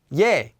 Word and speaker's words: 얘: like our previous syllable this one would also be pronounced as ye it also looks a lot like our vowel e just with a y sound added in ye so you might have